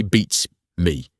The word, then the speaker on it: beats me: To say it correctly, push the emphasis hard onto the first word and let the second word drop in volume. Say it like this. Beats me. Don't say beats me, equalize.